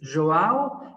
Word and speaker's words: Joao: Joao Yes.